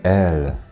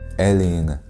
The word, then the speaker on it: êl: In Sindarin, you can say “el”, which, by the way, can also be written with a circumflex, like this “êl”, but the pronunciation of this word can easily be mistaken with the word “ell”, which is one of